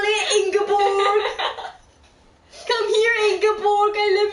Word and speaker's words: Ingeborg: Ingeborg, that's how you say it. Ingeborg.